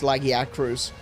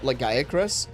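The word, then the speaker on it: Lagiacrus: in wild like it when you listen to the Japanese developers talking about legac they call it lagier right so it's still laggy at the beginning instead of lega which is how I say it but it's legac in the game is laggy acruus and it's like no I can't believe they made that official.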